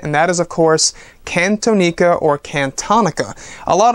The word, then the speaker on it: Cantonica: it is indeed pronounced kin Tonica a very very nice tone I like the name of it I like how it flows when you say it can Tonica it's like harmonica I like it now